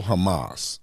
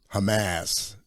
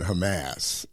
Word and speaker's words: Hamas: girl that's in there and she's talking about hamamass yeah she pronouncing Hamas you know yeah I'm against the atrocities committed